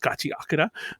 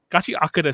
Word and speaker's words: Gachiakuta: I think I said it right. It's funny. The only reason I stumbled on it was because I was saying it right, and I was confusing myself in my brain. And I was like, no, it's not Gachiakuta. But yeah, Gachiakuta. So, by the way, what